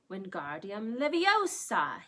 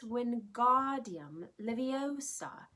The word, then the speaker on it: Wingardium Leviosa: having much more luck Wingardium Leviosa he shouted waving his arms like a windmill you're saying it wrong Harry heard Hermione snap its Wingardium Leviosa make the GAR nice and long you do it then